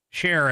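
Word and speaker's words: Cher: Share as in C H E R.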